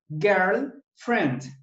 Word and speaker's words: girlfriend: Y friend, lo que se escribe friend, se pronuncia friend. La I se omite. La I. La I se omite, ¿ok? Girl, friend.